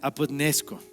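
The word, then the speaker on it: ἀποθνῄσκω: Este verbo de morir es el derivado de lo que veíamos, que se pronuncia apodnesco, y es una muerte que no tiene fin.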